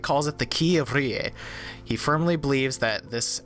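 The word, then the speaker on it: R'lyeh: But you gotta roll the tongue, so it's Rie. I remember now. Rie. This amulet is engraved with the Elder Sign. Drake calls it the Key of Rie.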